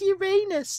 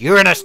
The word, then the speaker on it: Uranus: I'm glad you pronounced it that way, because I'm sick and tired of kids always saying, "Oh, it's Uranus." And you're like, oh, fuck off. It's Uranus, damn it.